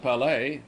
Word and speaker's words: Palais: I visited the Palais, pronounced Palais, which was burned by the Prussians in 1870.